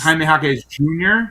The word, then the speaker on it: Jaime Jaquez Jr.: And you get to call him Triple J, and one of the J's is silent, or two of the J's. Yeah, because it's Jaime Jaquez Jr.